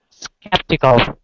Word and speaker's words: skeptical: It's the exact same sound in this next word. Same sound, okay? Yeah. Skeptical. Good. And remember, it's the I, not E, so skeptical.